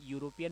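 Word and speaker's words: European: यहाँ पर शब्द की शुरुआत यहाँ चाहे इंग्लिश के ई से हो रही है, लेकिन जब हम इसका उच्चारण करते हैं तो हमें यूरोपियन मिल रहा है, ये वाला मिल रहा है, ये अवश्य,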